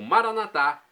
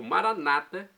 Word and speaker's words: Maranata: E agora do aramaico eu clamo Maranatá, como dizemos nós católicos, ou Maranata, como dizem nossos irmãos separados, os evangélicos ou protestantes. Não importa a pronúncia, o significado é o mesmo.